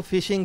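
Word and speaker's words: phishing: उसको जो पहले आप फिशिंग कह रहे थे एक्चुअली जो वर्ड है फिशिंग ये पी एच आई एस एच आई एन जी है। लेकिन प्रोनाउंस वो फिशिंग ही होता है हमारे यहां।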